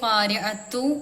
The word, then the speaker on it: القارعة: ഇതിന്റെ ലാസ്റ്റ് ഖാരിഅത്തു എന്ന് ഇവിടെ കാണുന്നുണ്ടല്ലേ, പക്ഷെ നമ്മൾ വെക്കുമ്പോൾ അത് ഖാരിഅ, ലാസ്റ്റ് ഒരു ഹാത്താന്റെ സൗണ്ട് ഉച്ചാരണത്തോടെ നമ്മൾ വെക്കണ്ട കേട്ടോ. പിന്നെ നമുക്ക് കൂട്ടി വേണമെങ്കിൽ കൂട്ടി ഓതാം.